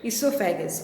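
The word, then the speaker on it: esophagus: क्या पढ़ेंगे इसको? इसोफेगस। ओ is silent.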